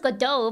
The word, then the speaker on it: Godot: Yeah, it's pronounced Godot, but it doesn't. It has a T at the end.